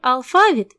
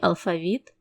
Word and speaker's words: алфавіт: варіантів є правильним наприклад можна сказати алфавіт і алфавіт Весняний і весняний завжди